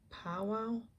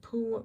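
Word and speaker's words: paua: in the comments and wrote down how to pronounce that shell Abalone or poow instead of pu Pua I think I think it's power so this is that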